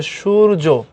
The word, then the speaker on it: সূর্য: এরপরে আসো সূর্য শব্দ সঠিক উচ্চারণ হচ্ছে সূর্য, দন্তস্বর উচ্চারণ হবে স, তালব্য বসার মতো সূর্য, তাহলে এটা।